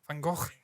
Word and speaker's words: Van Gogh: well, but people just butchered it like they do with Van Gogh. Van Gogh, it's not Van Gogh. It's from Holland. He's Dutch. Van Gogh.